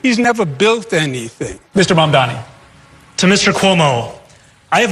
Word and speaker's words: Mamdani: The name is Mamdani. Mamdani. You should learn how to say it.